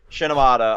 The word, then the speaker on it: Shimoneta: Shinomata. I'll put it up in the. No, you won't. I'll just fucking spell it right now.